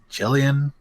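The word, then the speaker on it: Ghislaine: Her name is spelled funky, but it's pronounced like Jillian. Miss G. Gillian.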